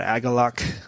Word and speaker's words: Agalloch: So this band's called Agalok that I discovered years ago on some, I don't know, satellite.